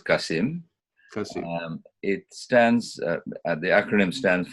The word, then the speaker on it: CACIM: CACIM is we pronounce it as CACIM.